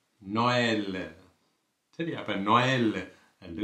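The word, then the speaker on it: Noël: நோயல், நோயல். சரியா? அப்போ நோயல் என்று உச்சரிக்கிறோம்.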